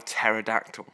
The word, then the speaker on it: pterodactyl: how do you spell pterodactyl pterodactyl oh no way you know it had a silent P yeah oh I only